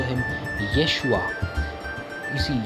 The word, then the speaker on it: Yeshua: In the Hebrew Bible, Jesus is called Yeshu or Yeshua, right? Yeshua of Nazareth. In fact, sometimes if you ask a Hebrew-speaking person to name Jesus, he will call him Yeshua. You see, Yeshua, and we've already been through how Greeks changed